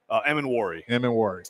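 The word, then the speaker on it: Emmanwori: Emin-Wari.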